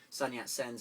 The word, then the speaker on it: Sun Yat Sens: so it sounds like it's got three syllables son yet sends it rolls leave Sonia